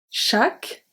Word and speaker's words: chaque: Chaque, the last letter that I pronounce is the Q, so U and E are silent.